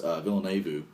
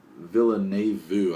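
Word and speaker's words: Villeneuve: or excuse me dennis villeneux uh villane vu i believe is how you pronounce his name um very talented filmmaker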